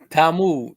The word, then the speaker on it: Talmud: This is in a how you pronounce that, Nasir? Talmud, the Talmud.